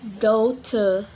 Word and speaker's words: daughter: And the next rule for letter G, we not pronounce letter G when G comes with H. We not pronounce GH when it comes after a vowel sound. For example, like daughter, bright, and high, like. Yep, we know letter G and H comes after vowel sound, so we not pronounce letter G and letter H.